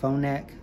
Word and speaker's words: Phonak: This is a Phonak. That's how you say it, Phonak TV link.